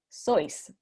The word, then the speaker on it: Seuss: ¿Sabías que we've all been pronouncing Dr. Seuss's name wrong? It's pronounced sois, rhymes with voice.